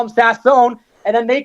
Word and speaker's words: Sasson: you asked so I first heard it with sassin when he joined the team a couple years